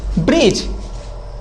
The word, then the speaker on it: bridge: ये क्या लिखा है, ब्रिज। ब्रिज मीन्स पुल, समझ में आ रहा है ना। तो जी के पहले यदि कभी भी डी आता है तो डी समझ लो हमेशा साइलेंट रहता है।